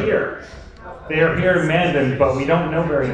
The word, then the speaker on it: Mandan: No, you pronounced Mandan correct.